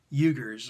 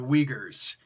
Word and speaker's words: Uyghurs: The Uyghurs or the Uyghurs. Depends on where you're from, your regionality, how you would pronounce it.